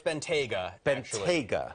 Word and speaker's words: Bentayga: this uh Matt go ahead how do I pronounce it okay so it's Benta BGA it would make sense to call it the